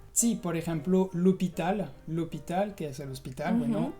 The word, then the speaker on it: l'hôpital: La primera es muy fácil, es la H, porque como en español, la H en francés también es muda. Sí, por ejemplo, l'hôpital, que es el hospital, bueno, o l'heure, que es la hora.